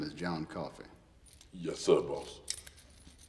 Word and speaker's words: Coffey: Your name is John Coffey. Yes, sir, boss. Like a drink, only not spelled the same.